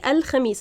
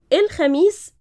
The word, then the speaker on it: الخميس: الخميس, we don't say الخميس. الخميس is the more proper like modern standard pronunciation. In Egyptian we say الخميس الجاي or الجاي, both are correct, but here it's written as الجاي 6 October.